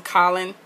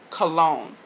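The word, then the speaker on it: Colón: Colin, Colin, stuff like that. My last name is Hispanic, and it's pronounced Cologne.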